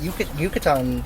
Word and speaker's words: Yucatan: All right, and I know you've actually been with Yucatan. Is that how you say it? Pronounce it? Yeah, exactly.